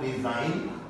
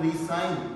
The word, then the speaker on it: resign: में सेम है बट पहले लफ्ज को हम रिजाइन, आई am going to रिजाइन माई जॉब, और दूसरे को हम रीसाइन, दोबारा दस्तखत कर दीजिए, प्लीज रीसाइन दिस पेपर।